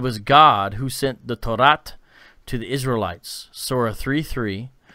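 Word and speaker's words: Tawrat: Now, T-A-W-R-A-T, how do you pronounce that, Abu? Torah.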